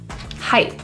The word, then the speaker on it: hype: what's all the hype the vowel is a diphthong I I with a little e at the end of that diphthong kick back this